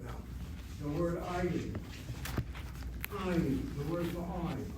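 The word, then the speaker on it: עַיִן: Ayin has two syllables, CV, CVC. You all see that? The patach is not being closed by neither dagesh chazak or shvana. It's open, syllable, short vowel, accented.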